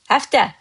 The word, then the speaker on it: həftə: Master Azerbaijani word of the day today has həftə. Həftə. Həftə can mean week, all right? See how did I pronounce it?